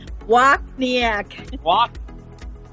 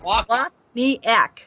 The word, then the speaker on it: Wachniak: Pronounce it. Wachniak. Wachniak.